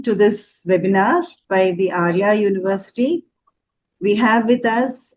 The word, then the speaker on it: Aria: It's spelled a little bit differently but pronounced Arya University.